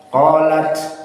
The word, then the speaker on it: قالت: Qalat taknya ditahan. Coba dibaca. Qalat rasuluhum afillah. Mana prakteknya? Teorinya, prakteknya lain. Qalat seperti itu.